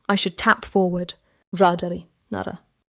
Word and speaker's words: 나라: Nara means country. The first sound is niel. Niel. In the middle, riel tap slightly. Nara.